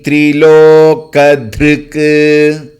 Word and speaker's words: त्रिलोकधृक्: मान्यो अमानीमानदो मान्यो Lokswami त्रिलोकधृक् धृक् that k has to be clearly pronounced Lokswami त्रिलोकधृक् Lokswami त्रिलोकधृक्